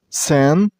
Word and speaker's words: sandpiper: This name is also three syllables, sandpiper. I haven't pronounced the first syllable as sand. I mean, you should drop the D here. You shouldn't make a D sound. So, not sand, it's sand. Sandpiper.